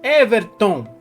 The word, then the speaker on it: Everton: proferir com muita entonação agora o Everton a sílaba tônica é o Tom então Everton eu tenho que proferir essa palavra com mais poder para gerar mais Impacto